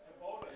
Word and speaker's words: Thibodeau: Isn't it Thibodeau? No, it's Taboda. Oh, Taboda. Okay. All right. So those friends of Charlie Taboda, my apologies. When I've seen it, I've always known it to be pronounced as Thibodeau. It's Taboda.